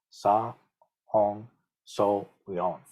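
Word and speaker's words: 사홍서원: How do you say that in Sino-Korean? You say Sa, Hong, So, Weon.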